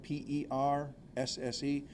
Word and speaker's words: Persse: That's spelled P-E-R-S-S-E, and it's pronounced Persse, like you pick up and carry things in.